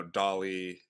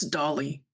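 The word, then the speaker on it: DALL-E: Um, and then more recently, Dolly in 2021, that's when it really took off that you could generate these pretty realistic images based on like a text model.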